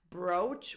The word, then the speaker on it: brooch: Brooch, which is what you pin on a shirt, and has a double O spelling, but the vowel sound is like an O, as in so.